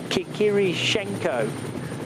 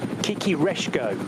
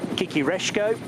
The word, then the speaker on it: Kikireshko: Oh, and a fourth driver, in fact, Oleksiy Kikirishenko of Ukraine. Kikireshko, in fact, is the correct pronunciation. I'll have a second go at that. So Oleksiy Kikireshko of Ukraine in the SRS Team Zorg Rennsport car.